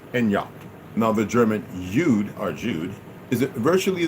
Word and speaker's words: Jude: pronunciation the Germans Judah Jude is the German equivalent of the English Jew the J in the German Jude is pronounced exactly like the English Y and yes Youth and